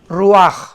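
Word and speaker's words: רוח: palabra hebrea r&a ch roach pero repite repetimos cuando s h se pronuncia rúa entonces lo primero que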